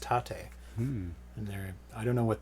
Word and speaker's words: Tate: People were giving me crap last time for my pronunciation of Tate, and it is actually pronounced Tate.